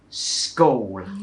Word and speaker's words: school: no matter what age everyone still says school no one syllable school โ อ เ ค